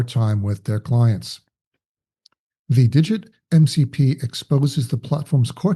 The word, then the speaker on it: d1g1t: And by the way, Digit is spelled D1G1T, in case you are wondering or you're unfamiliar with the firm.